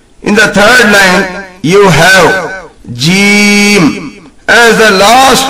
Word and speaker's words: ح: This is named or sounded as ha. This letter is called a guttural letter as it is pronounced from the middle of the throat, and the letter ain also gets pronounced in the same way.